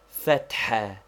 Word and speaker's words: fathah: Fathah, to be pronounced with a roughly aspirated ha, which we have indicated by a dot under it, and which is somewhat like HH or doubly strong H. It is also somewhat like a deep sigh. Be sure you do not run the t and h together, making th. Note, fat is the first syllable and ha the second.